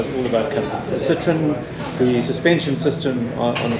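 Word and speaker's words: Citroën: This is the Citroen C5, or if you want to be precise, in French, Citroen. Citroen. Yeah, which is how you would pronounce it.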